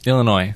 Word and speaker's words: Illinois: they okay i l illinois dang it that's gotta be french as well probably silent s that's how you know